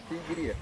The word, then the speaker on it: Sigiriya: Sigiriya.